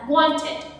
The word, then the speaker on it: wanted: Mọi người lưu ý là nếu mà âm t đứng sau âm n trong một từ nào đấy thì thông thường mọi người sẽ bỏ mất âm t đi. Thay vì cô đọc là wanted, cô sẽ đọc là wanted, wanted, no.